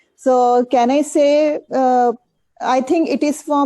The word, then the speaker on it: c'est: Say is For me. exactly For same moi. as say in English. Say, the pronunciation is same as say in English, and pour moi, pour